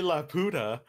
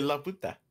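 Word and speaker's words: Laputa: You don't say La Puta. You say La Puta. La Puta. Chinga madre. Or vamos a llegar a la puta.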